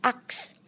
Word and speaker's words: ask: Ask. Artinya bertanya. Ternyata yang benar adalah ask. Ask. Nah, setelah huruf S itu baru huruf K. Bukan huruf K lalu S. X. Bukan seperti itu, tapi ask. Oke?